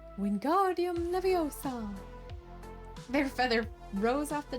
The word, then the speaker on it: Wingardium Leviosa: You're saying it wrong, Harry heard Hermione snap. It's Wingardium Leviosa, making the gar nice and long. Wingardium Leviosa.